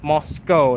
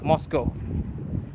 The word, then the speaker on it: Moscow: Oh snap, should I not pronounce the W in Moscow? No, well, it's Moscow, not, yeah, I guess. But that's the, yeah, Moscow.